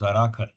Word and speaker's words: Jharakhar: By the time he reached Jankar, more than a week had Jharakhar. passed. It is pronounced Zarakhar.